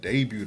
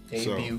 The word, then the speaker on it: debut: Yeah, Lupe's debut album. Debut, so, the T is silent.